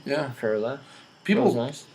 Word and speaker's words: Ferla: Ferla. People nice. want to add things to my name. They want to be like.